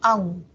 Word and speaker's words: aún: Entonces ahí se pronuncia solo monosílabo, aún, ¿ya?